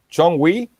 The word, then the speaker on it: Jonghwi: how is the sorry how is your name pronounced correctly John Murphy John we yes yes that's correct John we Parker yeah